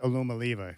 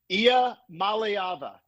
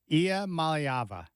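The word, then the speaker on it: Iamaleava: to know that Nico's last name is not pronounced Aluma Lia because you solved a big problem for me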